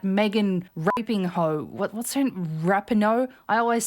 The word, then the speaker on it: Rapinoe: What's her Rapinoe? I always say her fucking name wrong. Rapinoe? Hi everyone, Megan Rapinoe here.